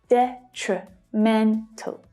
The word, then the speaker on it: detrimental: And just like exponential, the first syllable also has a secondary stress. So we can hear that one clearly as well, which means that the other 2 reduce. Detrimental. Detrimental. But the second syllable is the most difficult here because of the consonant cluster tr, with an unstressed vowel sound, tree. So it's like the noun tree, but with a shorter, weaker vowel sound, tree, tree.